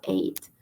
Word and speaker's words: ate: De eat pasa a ate, se escribe ate, pero se pronuncia muy similar al número 8, ate.